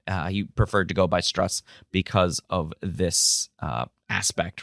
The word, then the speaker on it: Strauss: Now, his name is spelled Strauss, but this gentleman went by Strauss as to reduce the Jewishness of his name, and he has said